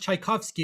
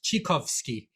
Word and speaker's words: Tchaikovsky: teacher telling us that tchaikovsky's name is not actually pronounced tchaikovsky it's actually pronounced chikowski and i couldn't believe